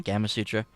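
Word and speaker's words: Gamasutra: But man, I was Gama Sutra. Is that how you say it? Mm-hmm. Gama Sutra.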